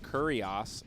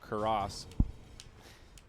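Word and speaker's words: Cuirass: I used to say Assault Kurios, and then I learned it was just Assault Kuros.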